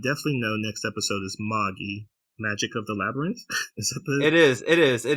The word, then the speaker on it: Magi: English listeners out there it's Maggie it's not Magi like the the gifts of the Magi it's it's Maggie it's pronounced Maggie so we will say